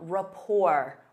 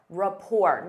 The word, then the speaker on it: rapport: Instead of saying they work well together, you can say they have a strong rapport. Rapport. Notice that T is silent.